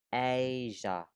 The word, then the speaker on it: Asia: Asia. Asia. Yeah. Chứ mình không đọc là Asia nhá.